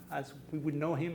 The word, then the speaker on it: Tintin: Do you know this guy: Tintin as he is known in English (pronounced Tintin in France or Belgium)?